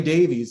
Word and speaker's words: Davies: The Beatles had a guy by the name of George Martin, whereas Ray Davies actually, or Davis as I think they pronounce it.